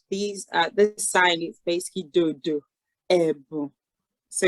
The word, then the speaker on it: Ebun: So we say Ebu. So you can see the E has a accent at the bottom. So that's an E. So you say Ebu.